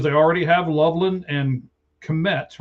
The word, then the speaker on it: Kmet: So he's essentially a third tight end with the Bears because they already have Loveland and Kmet, right? Is that how you say it, Kmet?